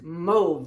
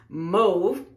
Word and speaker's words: mauve: in forever and I totally forgot about it mauve yes yes move that is how I pronounce it move because that's how you pronounce it in Greek